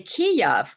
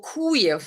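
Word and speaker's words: Kyiv: called Kiev but now now you can't say Kiev because oh that's Russian uh pronunciation you have to say kuyu or kuyif like some people actually nicknamed it in other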